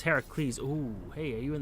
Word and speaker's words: Heracles: I mean, your pronunciation is completely wrong cuz it's Heracles.